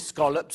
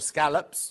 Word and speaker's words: scallops: There's your scolops or scallops depending on how you say it.